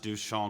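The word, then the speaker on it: Duchamp: in 1933 and met ducha over dinner at Ted Dryer's parents house in Brooklyn Heights Joseph alus pronounced du sha quote a great fellow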